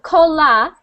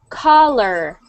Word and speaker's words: collar: Instead of cola, we want to hear the R again. Collar.